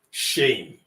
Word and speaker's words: shame: Shame. What this means is that this word shame is correctly pronounced when you allow yourself to transition from A to E before n or before me in the English word.